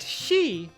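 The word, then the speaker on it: 四: but the explanation lies in Japanese the number 4 can be pronounced Shi oh right its death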